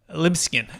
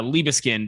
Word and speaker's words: Liebeskind: with me daniel uh libsyn they pronounced that correctly dan do i butcher that uh you know that that pronunciation works it's uh liba skinned is how i pronounce it but uh even other